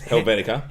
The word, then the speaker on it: Helvetica: Bharata yeah mine is the one that I'm pronouncing correctly a topi corrected me on which is Helvetica Helvetica that's mine but that's an Apple one